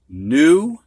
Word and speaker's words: knew: All right, we're going to have words now that have a silent K in them before an N. You don't hear that K. Knee, knelt, knit, knife, knew.